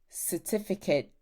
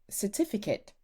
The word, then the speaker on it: certificate: Certificate. Certificate. You can pronounce the T if you want.